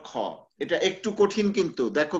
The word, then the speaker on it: খ: matra not the full matra there ঠিক আছে kha so some of you may have an issue with pronouncing this like kha kha আর একটা হচ্ছে ক প্রথমটা হচ্ছে like